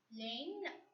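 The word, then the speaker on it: laine: Next vowel sound, A-I-E-I, which has to be pronounced as A.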